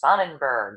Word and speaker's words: Sonnenberg: so excited to have our guest today next Sonnenberg did I pronounce that right Nick yeah thank you you